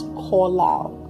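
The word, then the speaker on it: qalal: is the Hebrew word collal. It's spelled as Q A L A L, but it's pronounced as kal.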